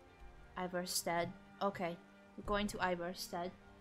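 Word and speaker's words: Ivarstead: We're going to Iverstead. I always want to say it, like pronounce it in the Hungarian way of like Ivorsted. But that would be strange.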